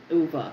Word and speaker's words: Ove: So, um, I'm also reading A Man Called Uva. I that's how they pronounce it in the book.